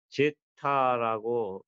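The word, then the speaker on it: zeta: 컬러 스펙타라는 거 그래서 Q라고 표현하고 댐핑 팩터 여기는 제타라고 표현한다고 그랬죠. 이름을 제타 이렇게 제타라고 발음을 하고 이렇게 쓰면 되는 거예요.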